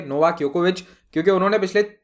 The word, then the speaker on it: Djokovic: बाय द वे, मेरे मुंह से भी कभी जोकोविच निकल सकता है, करेक्ट प्रोनाउंसिएशन इज योकोविच, लेकिन अब वो आदत